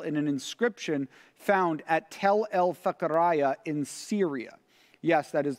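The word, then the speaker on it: Tell Fekheriye: And this is actually rounded out by another related concept that is illustrated well in an inscription found at Tel el-Fakaraya in Syria. Yes, that is the pronunciation of it.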